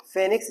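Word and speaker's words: Phoenix: तो एग्जाम्पल वो क्या था सीड डॉर्मेंसी का, तो एक एग्जाम्पल है आपका ल्यूपिनस आर्कटिकस, ल्यूपिनस आर्कटिकस, और एक है फेनिक्स डेक्टाइलिफर, ओ साइलेंट है, डेक्टाइलिफेरा, फेनिक्स डेक्टाइलिफेरा।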